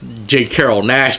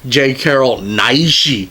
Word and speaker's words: J. Carrol Naish: He says, people are always mispronouncing my name. He says they see me in these movies and they think my name is not J. Carrol Naish, but Mr. J. Carrol Naishi.